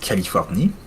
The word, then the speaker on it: Californie: I mean, if you want to just go for the direct French pronunciation, that would be Californie.